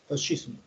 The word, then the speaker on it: fascismo: SC se pronuncia como así, pues, fascismo.